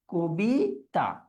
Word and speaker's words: কবিতা: ক যখন আমরা উচ্চারণ করি মুখটা একটু কি হয়ে যাচ্ছে? সংকুচিত হয়ে যাচ্ছে। যেটাকে কি বলে? সংবৃত উচ্চারণ। তাহলে শব্দটা কি হবে? উচ্চারণের ক্ষেত্রে কবিতা।